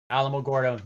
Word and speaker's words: Alamogordo: Alamogordo, New Mexico. I said it wrong.